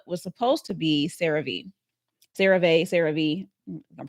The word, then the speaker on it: CeraVe: CeraVe, I'm pronouncing it right.